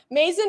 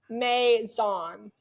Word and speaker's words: maison: something I would do Mason is pronounced as Maison Accent on the second syllable so like Maison zahan